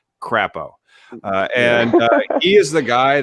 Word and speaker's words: Crapo: going to be crap, but also rhyme with the name of the state, Crapo, and he is the